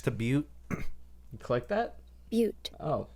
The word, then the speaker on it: butte: noise icon next to butte you click that butte oh beaut yep so that is how you pronounce it mute turns out there's also a